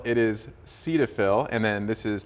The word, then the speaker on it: Cetaphil: These are familiar names, Cetaphil and CeraVe. So what's the usage of those two? Correct. So we confirmed this before we started here. It's not Cetaphil, it is Cetaphil, and then this is not CeraVe.